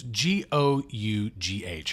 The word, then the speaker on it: Gough: Like, she's the niece of Alfred, who's, I mean, Michael Gough, I think is the way you pronounce his name. It's Gough.